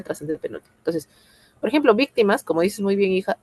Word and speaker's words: víctimas: Víctimas. ¿Dónde tiene la mayor fuerza de voz? En la penúltima. En la antepenúltima. En la antepenúltima. Por lo tanto, es esdrújula. Y si es esdrújula, lleva tilde sí o sí.